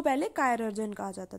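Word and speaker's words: chirurgeon: तो सर्जन को पहले कायरर्जन कहा जाता था, ठीक है ना। तो आप स्पेलिंग भी देख सकते हो, लास्ट की सेम है, ठीक है, तो उसे ऐसे प्रोनाउंस करोगे कायरर्जन, ठीक है।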